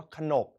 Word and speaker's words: ขนบ: การ อ่าน แบบ ปกติ แต่ นี่ เรา อ่าน ว่า ขนบ ห น โอะ บอ นก เป็น ขนบ เป็น อักษร นำ นั่น เอง แต่ เรา จะ แปล